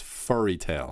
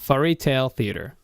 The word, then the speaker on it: Furry Tale Theater: It's Furry not fairy tale. It's furry tale. Furry Tale Theater.